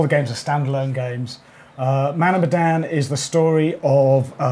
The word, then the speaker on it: Man of Medan: So first off, this is called Man of Medan. Yep. Correct? Yep. Good, pronouncing it correctly.